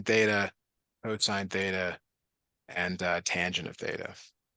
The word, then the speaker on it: cosine: over and over again cosine not not cos even though it's cos it's pronounced cosine I don't make the